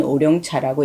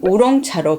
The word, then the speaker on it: 우롱차: 한문으로 까마귀와 용자를 쓴 우리는 오룡차라고 읽고요. 중국 현지에서는 우롱차로 발음을 하고요.